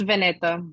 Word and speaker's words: Vanita: thanks great thanks Danny uh Vanita did I pronounce that right you're next yes it's vaneta nice to meet you all um so I